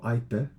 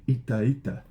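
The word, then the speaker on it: εἴτε: Ite, right? So ite or aite, up to you. Different times in Greek pronounce that differently.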